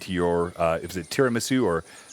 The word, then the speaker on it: tiramisu: you can laugh at me that's fine oh tiramisu that's what i yeah that's what i thought